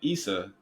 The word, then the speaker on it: Isa: The fact that his name is Isa, which sounds like Issa, like it sounds like the exact same as the Arab word, Issa, which is spelled ISA.